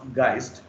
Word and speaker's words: Geist: Geist, the German term is Geist. It should be pronounced as Geist.